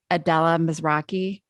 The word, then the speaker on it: Adela Mizrachi: the most podcast obsessed humans on the planet adella mizraki i hope i pronounced your name right yeah that's great adella